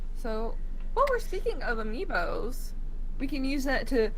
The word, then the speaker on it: amiibo: Ambios? Amiibos. Amiibos? Yes, amiibos. Sure.